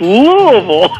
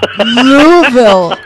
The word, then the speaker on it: Louisville: from Louisville, Kentucky, and I don't even come close to pronouncing it the way you do. It's Louisville. Louisville.